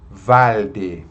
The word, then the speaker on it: valde: Não pode pronunciar como se fosse um U, né?